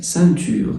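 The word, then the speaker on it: ceinture: اون سانتور الاي ان بتتنطق ان، او من الاخر بقى في قاعده الاو لو جه بعدها اي او ان يعني قصدي اي ان اللي هي اي ان بالانجلش ان تبقى سانتور.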